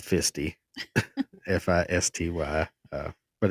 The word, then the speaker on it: Fisty: Feisty, for those who may not know, is spelled Fisty. F I S T Y.